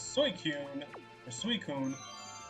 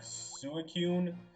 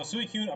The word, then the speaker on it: Suicune: the Johto legendary dogs, Suicune. However you pronounce it. For whatever reason, when I was little, I always pronounced it like Suicune, like it was suicide, but I know that is absolutely incorrect.